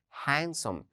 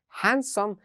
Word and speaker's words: handsome: okay next we have handsome can you say it handsome notice yes the letter d is silent we don't say handsome we say handsome handsome it's like beautiful but